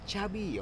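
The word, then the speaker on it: Xabi: usnya Safi kan sai I'm not Safi I Chabi Oh jadi nyebutnya Chabi ya karena orang B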